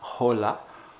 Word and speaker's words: hola: we say hola and making sure that that is a silent h na hola hola and then the name